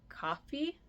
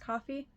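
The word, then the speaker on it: Ko-fi: Etsy or I that there's another place called coffee I think that's how it's pronounced coffee Kofi and then that way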